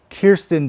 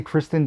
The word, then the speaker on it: Kirsten: say her name wrong kirsten dunst i always say kristen dunst and pierce them wig